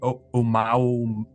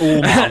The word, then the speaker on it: Oumuamua: the asteroid Oumuamua. I don't know how to pronounce Oh, it. Nice. Oumuamua.